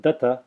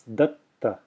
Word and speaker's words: datta: It's not datta, it's datta. There's a pause there, effectively, because I'm extending the first ta in a silent way.